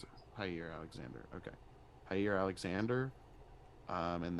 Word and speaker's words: Jaire: Jaire, how do you Higher. pronounce it? Jaire Alexander.